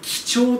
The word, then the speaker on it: 几帳: からいきましょうはいこれで貴重と読ませます一体どんなものか